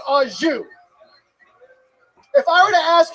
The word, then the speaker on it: au jus: A French dip is so luxurious, that shit comes with its own dipping sauce, and that dipping sauce is pronounced au jus.